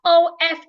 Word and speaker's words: of: vamin vamin of now o f f is pronounced off the FF here sounds like f off where the F here sounds like V of not the same